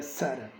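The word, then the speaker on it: Țara: Zara, Tara es una T, pero con un apóstrofe se pronuncia Zara.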